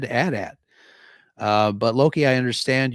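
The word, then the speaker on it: AT-AT: controversy earlier today with Loki how do you pronounce atat just like that atat I remember the commercials on TV when I was a kid um the announcer and the kids playing with the Adat said Adat uh but Loki I understand your argument uh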